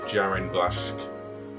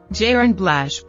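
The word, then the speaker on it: Jarin Blaschke: closely with his cinematographer jarn BL I probably said that wrong I'll throw up the pronunciation now so I like an idiot jiren blash and the cinematography definitely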